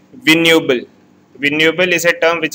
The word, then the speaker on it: vignoble: Next terms, that is the 17th term, is vignoble. Here the G word is silent. It is vignoble.